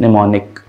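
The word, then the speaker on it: pneumonic: silent होता है और निमोनिक में पी ए के लिए आ रहा है निमोनिया होता है ना निमोनिक ठीक ओ फिर ये पी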